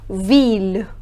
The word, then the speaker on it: ville: However, there are certain exceptions in which the sound of ILL changes and we pronounce double L.